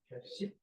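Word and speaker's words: 볍씨: 신기하게도 옛날엔 비읍시옷으로 시작하는 됐어. 자, 비읍시으로 시작하는 말이었던게 지금은 현대어로 C가 되면서 비읍이 사라졌습니다. 그리고 된 소리로 발음이 돼요. 단독으로 발음할 땐 C로 발음하는데 다른 말이랑 결합되잖아. 되도는 신기한게 사라졌던 비읍이이 단어가 합쳐질 때 나타납니다. 어떻게? 비읍이 떡하고 나타나. 그래서 벽시가 됩니다.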